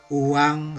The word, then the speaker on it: oeang: Pada 1 Oktober 1946, pemerintah mengeluarkan larangan menggunakan mata uang Nika dan digantikan dengan penggunaan uang Republik Indonesia. Uang, jadi oeyang itu dibaca uang, itu ejaan lama, sebagai alat pembayaran yang resmi di Indonesia.